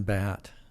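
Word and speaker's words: Badt: I remember your dad, and when I met him, he said, my name's Batt, and B-A-D-T, but you say it like a baseball bat.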